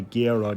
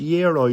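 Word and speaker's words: gyro: And then I did get a little bit of balance in with the gerro. Did yo, I think they're pronounced yero. You don't pronounce the G.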